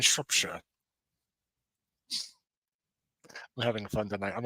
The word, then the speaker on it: Shropshire: And that is the proper way to say those, is Shrewsbury and Shropshire.